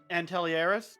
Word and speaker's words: Antelieris: Yeah, my name is Antelieris, just so you guys know how to pronounce it.